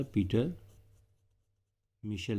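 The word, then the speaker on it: Mitchell: मिशल ने ठीक है किसने प्रपोज किया था पीटर मिशल ने साइंटिस्ट के नेम में थोड़ा सा स्पेलिंग मिस्टेक शायद हो सकता है बट प्रोनंसिएशन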